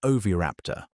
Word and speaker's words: oviraptor: We have fossils of oviraptor, pronounced o-v-i-h-r-a-p-t-o-r, a small feathered dinosaur in the exact